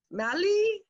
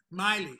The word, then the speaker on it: Miley: Okay, I want to make sure I pronounce this correctly. So if I don't, I apologize. Is it Mali? Tell me. Miley.